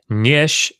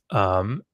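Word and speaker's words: ĝiš: Nyish, and that that's the nasalized G that's in the word Dengir. Nyish, it's pronounced NG essentially.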